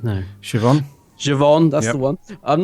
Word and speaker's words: Siobhan: Siobhan? No. Siobhan, that's the one.